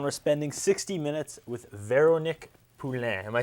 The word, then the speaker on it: Veronique Poulin: watching stripped down we're spending 60 minutes with vero Nick poulan am I saying it right yes I'm very worried about mispronouncing your name tonight a difficult one yes